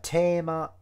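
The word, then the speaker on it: テーマ: was yeah that's interesting like Tama is for some reason how they say theme in Japanese I don't know why it's got that pronunciation but there you go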